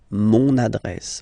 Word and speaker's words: mon adresse: mon adresse, my address, mon adresse, okay, you can hear now this little link, so you've got to pronounce this N, mon adresse, okay.